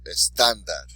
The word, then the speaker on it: estándar: That lets us know to emphasize that syllable a little bit more. So estándar, right? Estándar. Because the accent tells us to stress the word there. But there's a lot more to it than that.